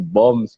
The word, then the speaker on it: BOMBS: Jadi ya BOMBS kan jadi BOMS gitu dibacanya siga BOM bahasa Inggris gitu.